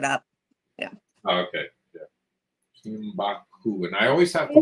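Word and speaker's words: Kinbaku: Somebody was asking how you spell Kimbaku. K-I-N-B-A-K-U, I believe. Let me look it up. I think it's K-I-N-B-A-K-U. I already looked it up. Yeah. Oh, okay. Yeah. Kimbaku.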